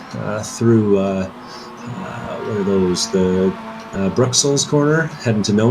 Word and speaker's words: Bruxelles: French blue cheese experience, But in English, it's Brussels as well, so why mispronounce the French? Either correctly pronounce the French or say the English.